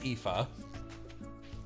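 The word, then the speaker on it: Aoife: is this uh which do you want to guess how this is pronounced e it's pretty close EA it is epha epha four Prismatic shards give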